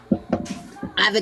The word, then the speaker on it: Avigdor: Like Mandy Patinkin was Avigdor and Yentl, and whew, those are the days. Anyway, what do you do? You know what's ironic is naming him Asher. You said Avigdor? Avigdor, did I pronounce it right?